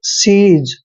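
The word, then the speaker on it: seize: ई आई जेड ई देखिए एस का उच्चारण स करते हैं और ई आई को ई की मात्रा पढ़ते हैं जेड ई का उच्चारण यहां पे ज करेंगे सीज सीज मींस होता है जप्त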